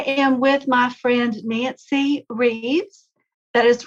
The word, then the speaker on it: Rieves: Founders Club I am with my friend Nancy Reeves that is correct last name pronunciation right that is right yeah because it's